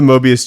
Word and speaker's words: Mobius: lose my mind Nathan it's not morbius chair is it it's morbid time oh my God okay so it is the Mobius chair but it's not spelled